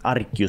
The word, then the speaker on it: Arceus: Arceus ska det tydligen vara.